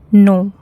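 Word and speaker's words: know: नो। यहां पर के साइलेंट है।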